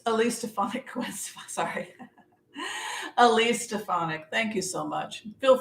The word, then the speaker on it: Stefanik: least at least a phonic Quest sorry Elise stefanik thank you so much feel free to correct